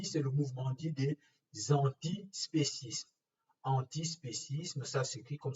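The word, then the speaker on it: antispécisme: le mouvement d'idées antispécistes andy spécisme ça suffit comme ça se prononce en ti et ensuite spécisme comme espèces dont spécisme ça ce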